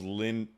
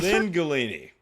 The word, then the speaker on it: Lingulini: His name, for the longest time, I thought it was Linguini. But it's Linguini. Like, there's like extra syllables there. To be punished. And they Lingulini.